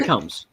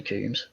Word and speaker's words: Combs: It's Jeffrey Combs, like a comb through your hair. Jeffrey Combs. It is spelled Combs. I was always confused why you say Coombs, but So I really thought it was Coombs.